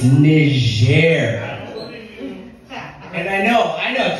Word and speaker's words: Niger: about Niger that is how that country is pronounced it's Niger and I know I know trust me the